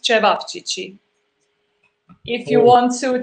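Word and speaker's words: ćevapčići: So it's pronounced cevapcici. If you Oh. want to challenge your tongue, it's cevapcici.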